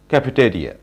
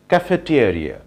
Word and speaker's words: cafeteria: Dear learners, আমরা এই ওয়ার্ডটির pronunciation করে থাকি ক্যাফেটেরিয়া। ক্যাফেটেরিয়া ইজ a wrong pronunciation. So right pronunciation of this word is cafeteria, cafeteria, cafeteria, cafeteria.